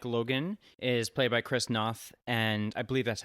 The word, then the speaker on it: Noth: of them is chris noth yes noth is that how you say his name yes not krisnoff and um george zunda